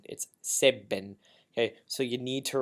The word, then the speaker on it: Sebben: of the whole song save bin is not saving it save bin okay so you need to remember your double